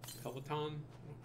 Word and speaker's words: Peloton: pay on i get pay on right for uh over here yeah i do that's not how you pronounce it peloton how let's pronounce that